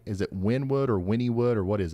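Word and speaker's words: Wynnewood: pronouncing that like the locals right is it Winwood or Winnwood or what is it ah you're close it's actually pronounced Winnwood and if there's a tornado warning there folks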